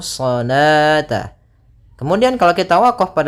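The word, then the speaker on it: الصلاة: Kemudian di sini bukan dibaca salawata, tidak boleh dibaca salawata, karena di sini ini penulisan rasamnya. Ketika penulisan rasam shalah itu seperti ini. Nah, waw di sini dianggap tidak ada, waw tidak ada, dan alifnya yang saya dianggap yaitu salata.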